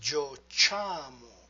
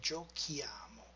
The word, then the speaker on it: giochiamo: Well, if we spell it like this, it sounds giociamo. Therefore, we have to insert H to get giochiamo.